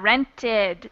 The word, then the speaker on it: rented: roll number two yeah rented extra syllable awesome job eight we're